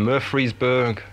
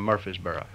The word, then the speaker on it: Murfreesboro: And that was actually recorded in Murfreesboro. Is that how you pronounce it?